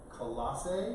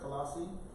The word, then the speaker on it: Colossae: So Colossians was a letter that the Apostle Paul wrote to the church at Colossae, I believe is how you say it, Colossae.